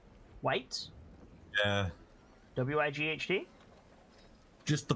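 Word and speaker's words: wight: them sorry i really don't like their name white yeah w-i-g-h-d just the pronunciation like without context is it my accent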